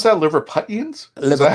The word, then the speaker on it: Liverpudlian: Liverpudlians? Is that how you pronounce it? Yeah. Okay. People I just want to make sure I get that right. Yes, a Liverpudlian.